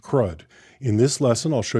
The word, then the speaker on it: CRUD: CR U often pronounced CRUD.